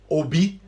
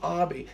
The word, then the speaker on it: Obi: man there is mr obi don't pronounce it like english people it's obi ob that's